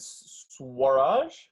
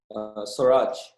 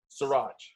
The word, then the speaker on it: Suraj: And is it Swaraj? Oh, we might be on mute. You're on mute, Raj. Very close. Yeah. How do you pronounce that? Suraj. Siraj. Yeah.